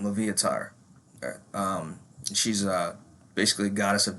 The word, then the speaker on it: Loviatar: Her name's, I think, Latvia, or I'm probably pronouncing her fucking name wrong. Loviatar, that's her name, Loviatar.